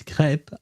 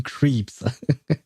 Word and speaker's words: crepe: do believe that uh these crepe are French. So I will go with the French name for them because I don't want to call them creeps.